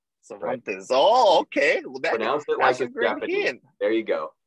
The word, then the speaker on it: Cervantes: yes a quick comment pronounce these names like they're japanese they're phonetic cervantes oh okay there you